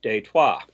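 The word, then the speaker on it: Détroit: and for those unaware Detroit was originally a French settlement in Detroit pronounced in French is detwa just a little FYI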